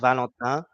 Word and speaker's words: Valentin: England or Spain pronouncing my name is pronounced Valentin in French but it's not the